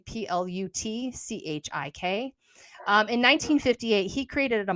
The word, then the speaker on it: Plutchik: But so there's this guy named Plutchik. I think that's how you say his name, Plutchik.